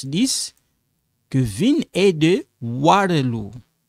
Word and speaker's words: Waterloo: Kevin est de Waterloo. Waterloo. Waterloo. You know, like when you say water, water, water, Waterloo.